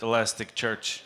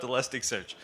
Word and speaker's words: Elasticsearch: 10 minutes ago you heard me mispronouncing the name of Elasticsearch. I said Elastic Church.